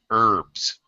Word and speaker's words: herbs: not pronouncing the H herbs herbal excellent uh the H is silent in that word okay medicines made with